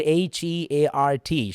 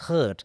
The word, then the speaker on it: heart: എഴുതി അച്ഛൻ പറഞ്ഞു, according to the Oxford advanced learners dictionary, the word HEART should be pronounced as heart, not as hurt.